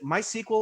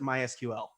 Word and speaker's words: MySQL: couple of different ways is it my sequel or is it mysql well the the old-timers prefer mysql but it really doesn't matter our former ceo martin